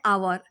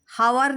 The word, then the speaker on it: hour: Talked for एन आवर. हावर नहीं बोल रहे हैं, हा तो कॉन्सोनेंट साउंड हो रहा है, लेकिन यहाँ पर बोल रहे हैं आवर. एच साइलेंट है, आवर.